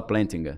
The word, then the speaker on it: Plantinga: Alvin, o sobrenome se escreve Plantinga. Só que Alvin se fala Plantinga.